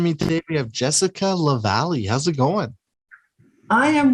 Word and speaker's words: Lavallee: I'm sure people, I was going to say Lavallee, Yes, exactly. Yeah, lots of people get it, pronounces it differently, but you did a wonderful job.